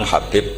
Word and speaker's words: Habib: yang nulis Abi Abdurrahman Habib asulami itu di harokatnya kitab itu ada yang nulis khubb Yang benar Oh giih yang benar itu bacanya habib habib itu asulami itu ikut